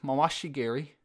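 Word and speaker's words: mawashi geri: really chill about that so this roundhouse kick Masashi Gary which is how they say it usually in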